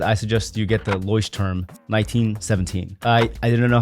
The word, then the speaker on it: Leuchtturm: journal to get I suggest you get the ly term 1917 I I didn't know how to pronounce this company in the last video but